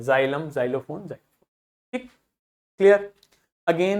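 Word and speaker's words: xylem: समझ में आ गई इसी प्रकार एक्स को आप जड की तरह से प्रोनाउंस करोगे यदि व एक्स किसी भी शब्द के बिगिनिंग में आता है जैसे जाइलम जाइलोफोन जेनोफोबिया जेनोफोबिया मतलब ऐसे लोगों से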